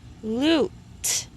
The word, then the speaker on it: lute: Lute. See, we don't say the E on the end.